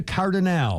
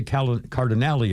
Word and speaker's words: Cardinale: Claudia Cardinale, or Claudia Cardinale, I've heard it pronounced both ways.